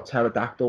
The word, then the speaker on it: pterodactyl: I always used to spell pterodactyl without a P. I always used to spell it that way because that's how it sounded. It used to be terror, like Terror, like the word terror, and dactyl.